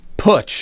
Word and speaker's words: Putsch: Pooch. Test me. Yes. Test me. Is that you, Pooch? Am I saying that correct? I pronounce it Putsch, like put your money where your mouth is. Putsch.